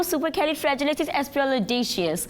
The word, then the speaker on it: supercalifragilisticexpialidocious: Like it was so supercalifragilisticexpialidocious. Spelling सुने? supercalifragilistic, fragilistic, AXPIALAGICIOUS. AXP है ही नहीं, X, yes. EXP है। Supercalifragilisticexpialidocious. That's the whole pronunciation. It's E not A, you जाहिल, British accent जाहिल नहीं होता ये।